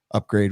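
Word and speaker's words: Upgrayedd: get a double dose that's spelled thusly u-b-g-r-a-y-e-d-d upgrade with two ds for a double dose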